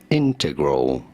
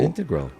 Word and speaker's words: integral: exactly what skip either integral weighs an emphasis on the first syllable integral integral or oh I said integral empasis on the second syllable you said it you said it like Integrity right but yeah so